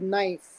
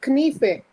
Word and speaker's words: knife: For example, one is the word knife. It used to be pronounced as knife. When it became pronounced as knife, the Americans, these language English speakers, decided not to drop the K.